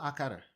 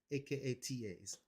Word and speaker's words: akata: word akata it's not akara okay it's not okay that's the lazy way that americans pronounce stuff in general it's not akara akara sounds like akada is akatas akata and the closest meaning